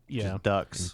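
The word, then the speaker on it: Dux: the de duk's aldri which is spelled duux Ducks just duck it is ducks aldri his name is ducks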